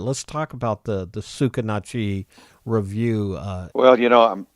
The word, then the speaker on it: Sucarnochee: do you pronounce them tsukitachi it's spelled suc AR n och EE and it's a river down here tsukitachi you say tsukitachi and it's a it's a Choctaw word beats I used to